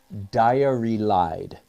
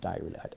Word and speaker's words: diarylide: And the ingredient, the pigment for Indian yellow is diarylide. So it's a word just like diary, D-I-A-R-Y, diary, with L-I-D-E at the end of it, diarylide.